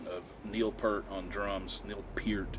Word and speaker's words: Neil Peart: Neil Peart is actually how he pronounces it. Not Babyface Huey, but Neil Peart.